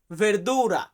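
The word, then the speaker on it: verdura: আছে কি সবজি শাকসবজি এটাকে আমরা ইতালিতে বলি ভেরদুরা ভেরদুরা মানে শাকসবজি বা সবজি তবে এটাকে আমরা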